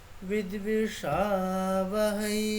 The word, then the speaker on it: विद्विषावहै: ওটাকে স্পষ্ট বোঝাতে গেলে কি করতে হবে, ওইকারের উচ্চারণটা কমপ্লিট হওয়ার পরে একটু আলাদা যে সুরটা হচ্ছে সেটাকে পুরো সম্পূর্ণ আলাদা করতে হবে। মানে একেবারে পজ, ওইকারটা উচ্চারণ হয়ে গেল, মানে থেমে গেলাম, মানে থামছি না, কিন্তু পজ, দেন ইমিডিয়েট ওই সুরটা ঠিক আছে।